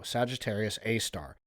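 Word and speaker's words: Sagittarius A*: Ours is called Sagittarius A, pronounced AAR. Oh, Sagittarius A star, and it's 4 million times the sun's mass.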